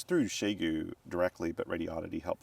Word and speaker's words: Xiegu: France as well so people call it different things but I call it Shu and that's probably what